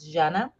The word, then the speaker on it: Jana: anything no problem but the right way to pronunciate is Janna and polishes uh because my mom is polished oh yeah she's 100